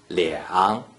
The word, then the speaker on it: 两: When there is only a single digit 2 without any other digits inside the first three green circles, the digit 2 is pronounced 两.